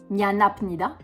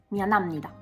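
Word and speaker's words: 미안합니다: prononciation est totalement différente on ne prononce pas en coréen mianapnida on prononce mianamnida parce que le PE devient un me ouais je sais ça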